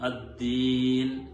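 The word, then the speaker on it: الدين: അതുപോലെ തന്നെ അദ്ദീൻ എന്നുള്ളത് ദാലിന് ശബ്ദ വരുന്ന സമയത്ത് പലപ്പോഴും ബുദ്ധി, യുദ്ധം എന്നൊക്കെ പറയും പോലെ ഒരു ഹാ ചേർന്ന് വരുന്ന ഒരു ഉച്ചാരണ രീതിയും കേൾക്കാറുണ്ട്. മാലികി യൗമിദ്ദീൻ, അദ്ദീൻ, ഹാ വരാത്ത രീതിയിൽ ദാല് ശബ്ദ കൊടുത്തുകൊണ്ടാണ് ഓതേണ്ടത്.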